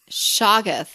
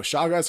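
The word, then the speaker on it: Shoggoth: babe no oh wait i think i said it wrong shaggest no way no shaw guys are the monsters the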